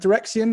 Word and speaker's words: Direxion: both directions now direction is that is that dreian is that the way you pronounce it correct yes yes um it's been